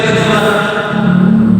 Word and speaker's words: Jumu'ah: surah Al alumah Jadi kalau bacanya jumah bukan jumah ya jumah jumah bukan